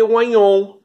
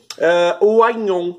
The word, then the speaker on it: oignon: A gente às vezes tem problemas com pessoas que pensam que é difícil essa pronúncia do GN. Lembra quando você vai ao mercado e pede filé mignon? É a mesma coisa, o GN.